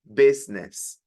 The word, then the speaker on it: business: This is one of the few words in English that does not really relate to the way it's spelled. This is not business. This is business.